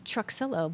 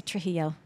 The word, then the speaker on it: Truxillo: But you pronounce the X and the L's, but it's Truxillo. But everybody wants to say Trujillo.